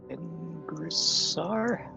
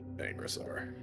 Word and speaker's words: Angrasar: Ingrisar? Yeah, you've heard his name before. Yeah, it's Angrasar.